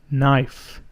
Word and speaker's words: knife: And in this word, the K is silent, so we say knife.